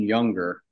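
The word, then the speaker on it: Junger: There's a book called Tribe, and it's by Sebastian Younger, and that his last name is spelled with a J.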